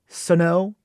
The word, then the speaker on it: Sno: s-n-o-w it's s-n-o and it's pronounced more like a suno imagine like there's an A in that s-a-n-o like a snow